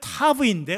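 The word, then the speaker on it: תו: 타우는 타브라고 하는 것, 어떻게 발음하기, 원래는 타브인데 우리는 타우로 많이 합니다.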